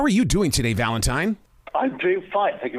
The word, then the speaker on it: Valentine: But you're already ahead of the game because you pronounced my name correctly. Some people get it wrong. You said Valentine, which is right. Some people say Valentine, which is wrong.